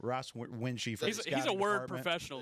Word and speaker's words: Wuensche: This is Ross Winch. Is that how you say your last name? I don't know if I've ever say it. Winchy.